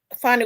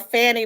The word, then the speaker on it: Fani: I know people call her Fanny, but it's pronounced funny.